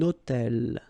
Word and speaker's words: hôtel: So you can see I'm making this little liaison between the two.